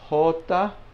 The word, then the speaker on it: jota: Jota, I'll put a hole and then ta here.